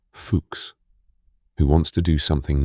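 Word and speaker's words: Fuchs: The Trans Antarctic Expedition is the brainchild of an English geologist called Vivien Fuks, pronounced Fuks, who wants to do something no one has ever done.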